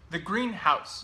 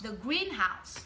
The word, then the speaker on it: greenhouse: The greenhouse. The greenhouse. Oh. Vậy có một điều rất đặc biệt là thầy ấy nhấn trọng âm vào âm 2 nếu những từ này là từ đơn lẻ.